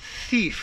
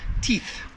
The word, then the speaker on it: thief: One thief. Make sure that TH sound is pronounced. I hear all the time, teeth, teeth.